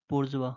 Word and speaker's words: bourgeois: का जो रहता है उसको क्या बोलते हैं, बोर्जवा बोलते हैं, ठीक है। इसका स्पेलिंग देख लीजिएगा, BOURGEOIS। ओके बोर्जवा।